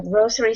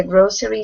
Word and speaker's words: grocery: So Grocery. That E, yeah, so that E is pretty much silent.